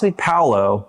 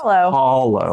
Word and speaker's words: Palo: It's not Palo. Don't say Palo. It's Palo, like follow.